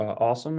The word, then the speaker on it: OSoMe: on social media or awesome as the acronym is pronounced is a joint project